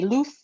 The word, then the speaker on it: Luz: My middle name is spelled Luz, as in zebra. My mother's from Spain, so we say Luz with a TH instead of an S.